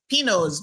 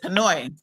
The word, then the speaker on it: Pinoy: I think we would probably pronounce it like Pinos, but it's Pinoy.